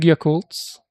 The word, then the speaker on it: Yakult: And do you guys have those big Yakultts like in Korea? Not Yakult brand but similar to Yakult. Oh yeah, but you pronounce it Yakult. I heard somebody say yakult and it sounded like fighting words for me.